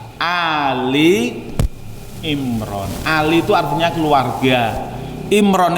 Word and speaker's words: Ali Imran: Biasanya orang salah bacanya surat Al Imran, nggak ada Pak surat Al Imran itu. Al-Baqarah ada, tapi kalau Al Imran nggak ada. Yang ada apa? Ali Imran.